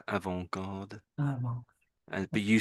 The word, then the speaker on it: avant-garde: should, because it's more avant-garde. Avant-garde. Well, But you said it the correct way. Sort of the T is silent pretty much, but some Brits will say the T, probably because of naivety, I guess.